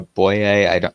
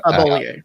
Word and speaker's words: Bollier: Barbara Boye, I never know how to pronounce her last name. Bollier, yeah.